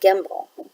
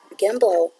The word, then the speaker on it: gimble: and then I've got gimble gimble rhymes with the word that I know from nursery rhyme when I was growing up Jack be nimble Jack be quick Jack